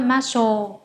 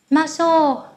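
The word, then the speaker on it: ます: như thế nào marceau Các bạn nhớ đừng nói là machel nhá Bởi vì rất nhiều người phát âm như vậy cho nên các bạn lưu ý giúp mình nhé maso Ăn thôi thói maso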